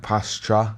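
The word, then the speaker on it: Pastrňák: is his name it's the r is it's it's more like pastra not instead the way we say it but he's like I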